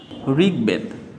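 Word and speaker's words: ঋগ্বেদ: করি তাহলে উচ্চারিত হবে দিক বি জয় দিকবিজয় ঋগবেদ তাহলে ঋ রয়েছে ঋ স্বাধীন রূপে থাকলে তার উচ্চারণটা কি হয় বয়সী রসিকারী ঋ গ ঋগ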